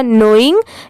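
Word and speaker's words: knowing: इंग पढ़ते ही हैं तो ये क्या हो जाएगा नोइंग और ये लिखते टाइम कैसे लिखेंगे के एन ओ डल आई एनजी यह मैंने एक वीडियो में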